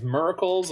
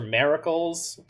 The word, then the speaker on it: Miracle: mechanic Miracle, it's just, the only thing you need to do is not pronounce the I as an I. So Miracle, probably Moracle, Miracle, all of these are acceptable.